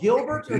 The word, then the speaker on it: Gilberto: do you prefer well my full name is gilberto you pronounce it well just roll your r and we're called gilberto